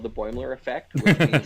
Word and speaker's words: Boimler: Boiler? Boimler. How do people feel about yeah. Brad Boimler? Because there's a lot to like, there's a lot to hate. I love that there's now something called the Boimler effect, which means like ignore the rules, and